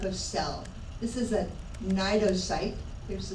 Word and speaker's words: cnidocyte: This is a cnidocyte. There's the spelling here. The C, C is silent.